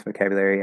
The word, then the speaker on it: vocabulary: Way number one. Full pronunciation. Vocabulary. Okay, we have you. So it's the first vocabulary. So it's actually 5 syllables, not 4 or 5.